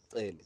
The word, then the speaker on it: Xele: And help me pronounce it. Is it Xele? Yeah. It's Xele, no? Xele.